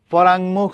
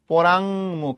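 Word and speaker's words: পরাঙ্মুখ: পরাংমুখ শব্দের শুদ্ধ উচ্চারণ পরাম না, পরাংমুখ।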